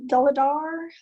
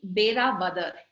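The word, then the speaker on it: Velavadar: And the Black Buck Lodge is on the outskirts of a national wildlife sanctuary, the Deladar National Park. Did I pronounce that? It's Bera Badar.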